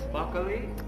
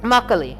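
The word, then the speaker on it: 막걸리: How do you pronounce this? Makgeolli. Makgeolli.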